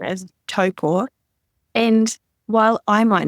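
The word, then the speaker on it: Taupō: it is to say toe is in toe on your feet and poor is in poor of a cat so if you can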